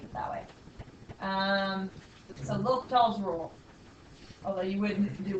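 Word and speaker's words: L'Hôpital: And there is something called L'Hopital's rule, and it's spelled weird because it's not English. Yeah, it looks like hospital. Yeah, there's no S, but some spellings do have an S, but it's still always L'Hopital's because it's like French.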